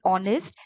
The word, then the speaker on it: honest: honor and are an honest man so before words beginning with h but h is not sounded or we say h is silent then you will use